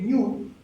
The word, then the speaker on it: GNU: En el caso de la GNU, ¿sí?, la GNU, ¿no es cierto?, en inglés, la GN, la combinación GN, se pronuncia N, ¿bien? Entonces, la mascota es este New, ¿sí?, ¿no es cierto?,